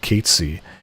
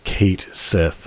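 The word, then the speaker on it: Cait Sith: about Gino is about Katy or or Kate Sith as it's written, but if you say it how it's pronounced, no one will know who you're talking about.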